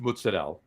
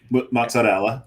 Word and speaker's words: mozzarella: Um, smoked mozzarell. Okay. Mozzarella. Mozzarella. I I didn't say the I said moz I didn't say mozzarell I said I said mozzarella but it's mozzarell I didn't say mozzarella mozzarell